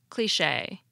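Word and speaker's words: cliché: say the French lone word cliche fairly close to the original cliche we're able to do this because we have a similar k sound l sound e sound sh sound and a sound in English yet we still alter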